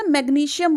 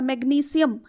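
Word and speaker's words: magnesium: Calcium जिसको हम बोलते हैं ना मैग्नीशियम, वो मैग्नीशियम नहीं होता, मैग्नीशियम ये होता है।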